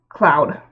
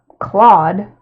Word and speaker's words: Claude: of pronouncing it, but I pronounce it Cloud, like the Swedish way, which I learned it's the Swedish way of pronouncing it because I was looking up how to pronounce it. Cloud, and it's Clouda, But in Japanese, they're like Kurodo or something like that. And then there's also the way to pronounce it, which is Claude.